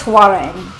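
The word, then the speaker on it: Hwoarang: I I think it's I think it's huarang Huarang It's not really a natural thing for our English tongues to say but Right or American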